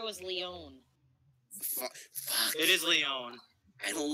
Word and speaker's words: Leon: Well, thing is, he's Lion, but with res and no defense. I thought it was Leon. Fuck. It is Leon.